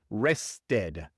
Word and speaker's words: rested: Cuando un verbo termina en T o D, entonces es imposible pronunciar otra T u otra D después del verbo. Y por eso pronunciamos la E, solamente en estos casos, rested.